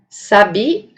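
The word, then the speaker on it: sabiá: Agora, se eu mudar o acento fonológico para a última sílaba, nós teremos a palavra sabia, o pássaro.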